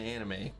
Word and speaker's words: anime: And it's anime, it's the actual pronunciation.